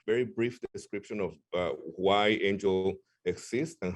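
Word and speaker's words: AINGLE: It's spelled A-I-N-G-L-E. That's not a mistake, but it's pronounced Angel.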